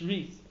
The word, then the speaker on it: Rhys: for saying my name my name is pronounced or but it's it that's how you say it as well it's wreath I know it looks like it's rough lots of people have